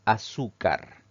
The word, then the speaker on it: azúcar: La siguiente palabra es azúcar. Esta palabra tiene 3 sílabas. Al pronunciarla, la mayor fuerza de voz recae en la penúltima sílaba, siempre contando de derecha a izquierda.